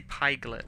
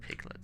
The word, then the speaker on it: pyglet: I do say pyglet as well instead of piglet, so maybe I'm just a...